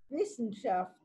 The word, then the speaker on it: Wissenschaft: ¿Hay alguien judío alemán que quiera desmutearse y pronunciarlo como corresponde? Dale, Eva, desmuteate y decilo bien. Lo dijiste bien, Fabián. Ah, me equivoqué, ¿lo dije bien? Wissenschaft. Muy bien.